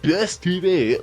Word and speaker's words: Best TV: Which, if you're wondering why I said Best TV like that, that's actually how they pronounce it in their logos.